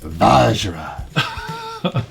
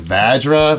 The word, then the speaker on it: Vajra: I pronounce it like Vajra. Vajra. That sounds sexy. I mean, some people have said Vajra, but we're not going to say that. No, that's probably not right.